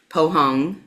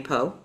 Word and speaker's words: Poong: or my laptop so how do you say your name poong but most people people call me Po okay I like Po